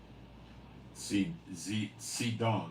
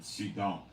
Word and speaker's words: Zidon: saying son of man set thy face against zidon and prophesy against it now it's not Zion it's zidon strongs number 6721 in the Hebrew it be pronounced sedon sedon the word means hunting but it references a